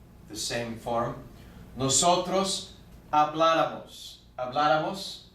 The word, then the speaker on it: habláramos: Habláramos con acento en la A.